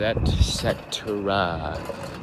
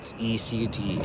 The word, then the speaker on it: etc.: Different things, new things, etc. ETC, not ECT, because etc. is not a thing.